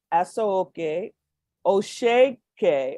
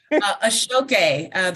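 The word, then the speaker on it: Aso Oke: From this research, she will co-curate an exhibition highlighting Yoruba Asoke Osheke. Okay, she's going to pronounce that for us.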